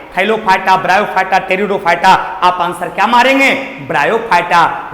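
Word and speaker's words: Pteridophyta: देखिए पी से स्टार्ट हुआ है, इसका मतलब इसको पटेरिडोफाइटा ने पढ़िएगा, पी साइलेंट रहता है। ये आपका है टेरिडोफाइटा।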